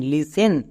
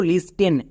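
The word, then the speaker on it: listen: তারপরে টি। টি এখানে সাইলেন্ট। এর উচ্চারণ করতে হবে না। বোঝা গেল? নেক্সট। ই এর জন্য একার এবং সবার শেষে এন আছে এন এর জন্য দন্তন ব্যাস তাহলে এই ওয়ার্ডের উচ্চারণ কি দাড়ালো এল আই এস টিই এন লিসেন কিন্তু একে অনেকেই ভুল করে উচ্চারণ করছো লিস্টেন লিসেটেন বলে কিছু হয় না লিসেন হলো সঠিক উচ্চারণ নেক্সট আরেকটি ওয়ার্ড দেখো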